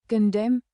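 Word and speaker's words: condemn: कंडेम कंडेम।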